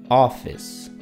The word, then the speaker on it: office: Por ejemplo, no está acentuada en la palabra office. Office. El acento va al principio a office.